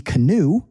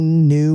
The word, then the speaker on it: knew: In English, sometimes there are silent letters and these can be really confusing. Look at the first one. We don't say he canoe, right? He knew what to do.